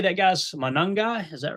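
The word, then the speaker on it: Monangai: And how do you say that guy's Manungai? Is that right? Yeah, man. Kyle Manungai.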